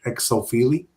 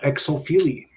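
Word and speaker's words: Xochipilli: It starts the way they spell it is X O C H I P I L L I. So if I was to take a jab at that, I would say like exopili, you know.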